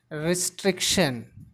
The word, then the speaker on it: restriction: Here the stress should be given on s.